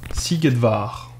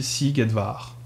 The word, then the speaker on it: Szigetvár: Ça se dit Szigetvár. Sziget, d'ailleurs, ça veut dire « île », c'est le nom d'un festival aussi en Europe. Parce qu'en fait, SZ, ça se prononce comme un S, en français.